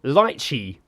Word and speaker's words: lychee: it aloe aloe vera it's not aloe vera it's lychee not even close to